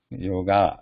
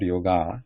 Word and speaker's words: yoga: It's not yoga, but yoga. That is the original word. But in English, when it has been imported into English, in all over it has been being pronounced as yoga. But in Sanskrit, original word is yoga.